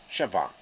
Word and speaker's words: Siobhan: Siobhan. Siobhan. That's how you say it. Siobhan. It's pretty simple.